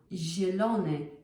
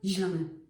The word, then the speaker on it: zielony: No, it's zima, zielony. It's not zielony. It's zielony, zi.